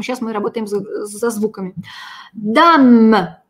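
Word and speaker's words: dame: «Э» на конце не произносим. Но мы помним с вами, что, во-первых, «д» очень твердая такая. Ну, хорошо, не твердая, не мягкая. Она такая взрывная. «Д». «Д». «Дам». Это хорошая «а». Это не «дам».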